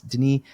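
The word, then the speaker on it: Denis: they did it Dennis Deni did it so I guess his name is pronounced Den even though it looks like Dennis but Deni talks about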